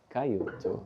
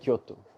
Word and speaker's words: Kyoto: Last minute he texted me and we got to Cayoto Kyoto.